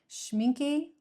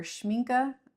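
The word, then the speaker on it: Schmincke: Uh, it is Shmincky or Schmina. I'm not sure how you pronounce it. I've heard it's pronounced both ways.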